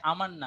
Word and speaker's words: আমান্না: হ্যাঁ, ওর নাম হচ্ছে আমান্না, আমি ওকে অমান্য বলছিলাম, ও এখন বানান লিখছে সলিমুল্লাহ।